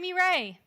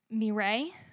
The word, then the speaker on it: Mireille: Mireille. How do you spell that? It's not going to help you. It's a French name. There are a lot of letters that don't need to be there.